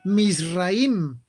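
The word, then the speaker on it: מצרים: En hebreo, si quieren ustedes decir Egipto, tienen que decir Misraim. Misraim es Egipto en el lenguaje hebreo.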